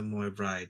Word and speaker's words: Moirai: I, Silver Dime, create that thread length, and the Moirai decide when to cut. Can you spell that for me?